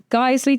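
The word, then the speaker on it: Geissele: Daniel Defense, Geisley, did I say it right?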